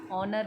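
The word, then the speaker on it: honour: So when we don't say हॉनर एंड हॉनेस्ट, वी से ऑनर एंड ऑनेस्ट.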